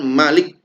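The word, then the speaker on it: مَلِكِ: Kata Malik ya bacanya pendek ya Malik. Kalau di Alfatihah itu panjang Maliki. Meskipun ada beberapa bacaan Malikinnas pendek tapi di Annas ini bacanya pendek.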